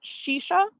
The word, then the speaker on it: shisha: to first say that the tobacco component of hookah is pronounced shisha i would like to